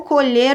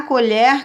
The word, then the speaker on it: colher: nome objeto né a colher caiu no chão então nesse caso aqui eu pronuncio colher e nesse caso pronuncio colher então a escrita é igual a pronúncia é diferente mas a escrita é